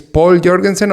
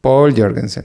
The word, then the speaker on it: Povl Joergensen: The pronunciation is Povl Joergensen or Povl Joergensen. It's like you said first, Povl Joergensen. Paul Jorgensen.